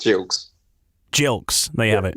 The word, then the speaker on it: Gilkes: It's Gilkes.